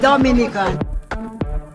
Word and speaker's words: Dominica: oh we call it Dominican it is spelled D o m i n i c a it is not Dominican Republic it is pronounced Dominica and is situated between